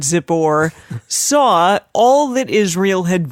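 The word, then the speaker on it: Zippor: a-lak-a-lak-a-lak-a-lak the son of zip or like zipper but zip or saw all that Israel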